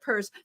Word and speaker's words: Pierce: for an lgbtq organization the word purse in it as in I've got a fabulous purse exactly the the Zimmerman purse Democrats um and we're gonna have to remind people of that because they're gonna like forget that they're gonna see it like I did and say Pierce instead of purse thank you both so